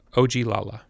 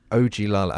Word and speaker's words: Ogilala: Can you tell me what it's called, how to pronounce it? Ogilala. Ogilala.